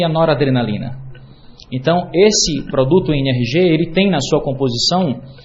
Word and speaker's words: NRG: Eh, o NRG, a as letras N RG, se a gente pronunciar em inglês, fica NR G, que é exatamente a pronúncia da palavra em inglês energia.